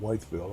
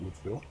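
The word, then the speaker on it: Wytheville: Some people pronounce that Whiteville. I pronounce it Woodville.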